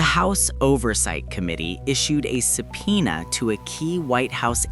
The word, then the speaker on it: subpoena: For my advanced learners, notice that the P is silent. We say subpoena.